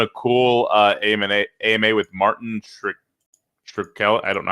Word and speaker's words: Shkreli: They're doing a cool AMA with Martin Shkreli. I don't know how to say the last name. Shkreli.